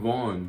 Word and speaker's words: Von: King Von.